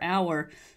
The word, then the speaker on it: our: actually our o r our is is usually pronounced R unless it's stressed for some reason okay so let's start